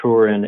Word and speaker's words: Turin: both russellheim germany and tour in italy or torino italy depending on where you're from how that's pronounced so i've been kind of